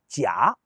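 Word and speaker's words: 假: Lorsqu'il est prononcé au troisième ton, jia, il signifie faux ou artificiel. Mais si on le prononce au quatrième ton, tia, il prend un sens complètement différent et désigne alors les congés ou vacances.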